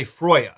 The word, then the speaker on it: Freyja: or should I say Freyja, since that's closer to how her name was actually pronounced.